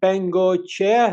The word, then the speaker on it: Bengoechea: Jesus Beno. Am I correct in saying that? That's perfect. Perfect pronunciation.